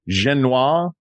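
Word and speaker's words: génoise: Genoise? Genoise? Yeah. How do you say that? S-E? S-E. Genoise. Yeah. Yes. There's an E after the S, you pronounce the S.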